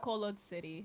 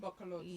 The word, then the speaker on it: Bacolod City: How do you pronounce that? Bacolod City. Bacolod City.